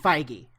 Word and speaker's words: Feige: And then there was this backlash where uh Kevin How do you pronounce his last name? Kevin F. Kevin Feige.